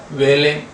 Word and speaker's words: valet: तो daughter I, वही पीछे नौकर था वेले, VALET, वेले, इसका T साइलेंट होगा, सर्वेंट यानी नौकर होता है।